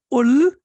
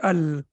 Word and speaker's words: ال: with we cannot say ul and we cannot say ill we have to say Al that's the only thing